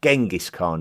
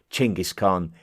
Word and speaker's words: Genghis Khan: to as Genghis Khan, which is something that has been more commonly pronounced Genghis Khan in the Western world, until more recently when a closer approximation to the correct local pronunciation, Genghis Khan, is starting to be preferred.